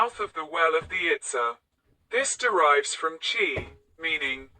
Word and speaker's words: Itza: The word Itza has a high tone on the a, followed by a glottal stop, indicated by the apostrophe.